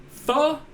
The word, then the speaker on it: pho: Pho? Pho, it's spelled P-H-O.